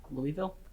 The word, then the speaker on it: Louisville: Louisville. Louisville is correct.